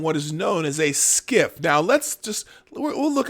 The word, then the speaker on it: SCIF: the definition here a sensitive compartmented information facility pronounced skiff in british and united